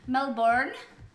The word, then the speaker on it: Melbourne: It's Melbourne. Is that how you're familiar with it? It is. It's Melbourne. But in Australia, you have to pronounce it bin, B-I-N, Melbourne. It's just how the Aussie accent works.